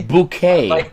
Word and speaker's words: Bouquet: um keeping up appearances that's another one it's pronounced guy bouquet not your question as to saying is there